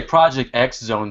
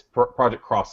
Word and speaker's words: Project X Zone: or preg croissant two how do you guys pronounce it I'm sorry in Mexico I said I think I say Project X zone two well I got made fun of last time I said that it's project cross Zone sounds like they